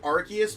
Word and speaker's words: Arceus: now though okay so i pronounce it arceus because i'm pretty sure that's how they said it in the legends of arceus trailer i couldn't oh